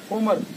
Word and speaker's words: Homer: வந்து தனி சிறப்பு உண்டு இதோட ரியல் நேம் அப்படின்னு பார்த்தீங்கன்னா ஹோமர் தான் ஆனா எல்லாரும் இதை வந்து ரோமர் அப்படின்னு சொல்லுவாங்க அது வந்து அவங்களோட உச்சரிப்பு பிழை அவங்க தெரிஞ்சுக்கிட்டது அதான் நானும் ஆரம்பத்துல ரோமர் அப்படித்தான் சொல்லுவேன் ஆனா இது அப்படி இல்லை இதோட நேச்சர் நேம் வந்து ஹோமர் இந்த பொதுவா பார்த்துகிட்டீங்க அப்படின்னா சாதாரணமா